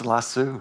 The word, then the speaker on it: Lasso: Is that not how you pronounce it? It's "lassoo".